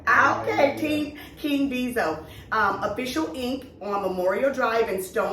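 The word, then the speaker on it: King Deezo: His name is King Diesel. All right, did I pronounce that right? Yeah. Okay, King Diesel.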